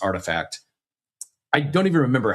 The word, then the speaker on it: RTFKT: How are you pronouncing Artifact originally?